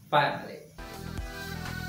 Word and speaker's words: finally: feel comfortable here next finally two syllables fine leave finally okay we have a